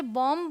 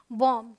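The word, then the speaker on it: bomb: Rule number 2 important है, अगर बी एम के बाद आए या फिर टी के पहले आए तो बी साइलेंट होता है। ऑल राइट, तो देखिए यहाँ पर ये जो बी है ये एम के बाद आया है तो यहाँ हम इसे बॉम्ब नहीं बोलते, ये है बॉम्ब, ठीक है।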